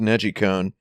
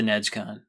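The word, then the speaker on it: NeGcon: con is pretty fun uh the the it's pronounced Neji cone uh as in najiru means to rotate or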